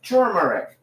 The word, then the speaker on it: turmeric: these years, I did not see the other R. It was somehow invisible to me. And yet somehow a couple of weeks ago, I had a revelation and I realized it's it's turmeric, pronounced turmeric. T U R M E R I C.